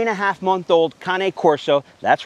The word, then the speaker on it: Cane Corso: a half month old kane corso that's right folks that's how you pronounce it kane corso but it looks more like cane corso look say it however